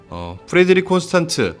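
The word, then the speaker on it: Frederique Constant: 발음 스펠링 주의해야 돼요. 프레드릭 콘스탄트, 줄여서 편하게 FC라고 하겠습니다.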